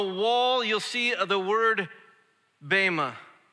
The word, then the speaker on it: bema: you've ever been to actually pronounce BMA but a lot of you say Bea so I'm just joining you but if you've ever